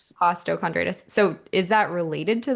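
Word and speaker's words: costochondritis: The other question I had is the diagnosis that you got costondritis. Is that how you pronounce it? Costtoondritis. Costtochondritis.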